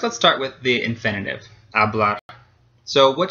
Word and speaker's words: hablar: So first, let's start with the infinitive, hablar. So which syllable gets stressed? Well, it ends in an R, so it doesn't end in a vowel, an N, or an S. So the last syllable is going to be stressed.